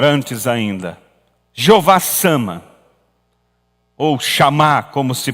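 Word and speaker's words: Shammah: Jeová, eu falei Jeová Nissi, Jeová Sama, melhor, antes ainda. Jeová Sama, ou Chamá, como se pronuncia a palavra.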